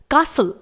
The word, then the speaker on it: castle: Silent कर देते हैं, जैसे कासल CASTLE, यहां पर T को साइलेंट रखा जाएगा।